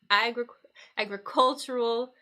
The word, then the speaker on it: agricultural: do with agriculture so I notice the shift in uh the syllable stress there so agriculture becomes agricultural when we turn it to an adjective yeah so agriculture syllable on the first sorry stress on the first syllable AG agricultural we shift the stress to here all right great all